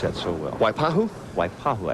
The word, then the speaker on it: Waipahu: You pronounce that so well. Waipahu?